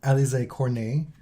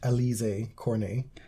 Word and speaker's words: Alizé Cornet: One to Alizé Cornet. Not pronounced Alizé Cornet.